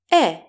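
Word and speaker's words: αι: This is the double vowel alpha iota, a combination of alpha and iota. It is pronounced E, just like epsilon.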